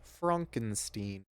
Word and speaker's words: Frankenstein: We got it's pronounced Frankenstein.